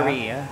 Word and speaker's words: Paris: ay don't eat that it's not Paris mother it's Paris It's Paris It's Paris pauso It's a technique that I learned in Paris Yes Di ba single s ata ay silent s ata di ba parry parry ilang beses ka